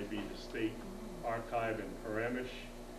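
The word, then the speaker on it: Przemyśl: the state archive in paramesh r z e m y s l pronounced parameters it may be a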